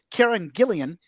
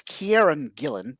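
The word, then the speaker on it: Kieron Gillen: wookie's name uh so it is the comic book author karen gillian uh that's kieran gillen not karen gilliam as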